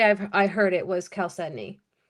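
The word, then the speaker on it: chalcedony: calcedney. Uh, six and a quarter. Six and a quarter. I always said it with the ch with a ch sound. I never knew it was actually K.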